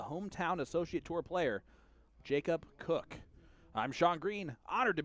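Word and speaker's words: Koch: And we see the unknown quantity there, and Jacob Cook, spelled K-O-C-H. I'm sure he's actually going to be excited because a lot of people are going to be able to pronounce his name correctly after this, or they'll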